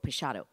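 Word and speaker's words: Peixotto: and um the illustrations for it were done by Julia Morgan's best friend's brother his name was Ernest prasado which is how you say p-e-i-x-o-t-t-o pachado and um there's no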